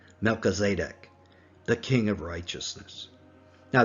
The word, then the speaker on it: Melchizedek: the order of melchizedek or as i prefer to pronounce it melchizedek the king of righteousness